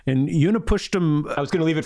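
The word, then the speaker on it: Utnapishtim: It's It's one of the hardest uh Babylonian names to pronounce, but it's Uni Pushtum. And Uni Pusham I was gonna leave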